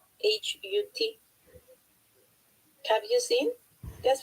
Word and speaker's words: Hut: It's not hot Hot, it's hot Hut.